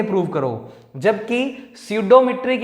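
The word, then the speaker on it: pseudometric: स्यूडोमीट्रिक। इस d का नाम हो जाएगा बच्चे स्यूडोमीट्रिक, p साइलेंट है, ठीक है। स्यूडोमेट्रिक, जैसे नाइफ में के साइलेंट होता है वैसे स्यूडो में पी साइलेंट है।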